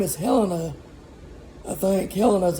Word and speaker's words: Helena: Helena's how you say it. H-E-L, it's like Helen with an E.